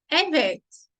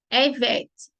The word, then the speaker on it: evet: Evet. Ekmek var. Hayır. Ekmek yok. Tome um cuidado aqui na pronúncia, para não falar hayır. O correto é hayır. Evet e não evet. Evet é o correto.